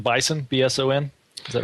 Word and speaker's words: BSON: One of the interesting aspects of how you guys store data in Mongo is, I believe this is the correct pronunciation, Bison, B-S-O-N.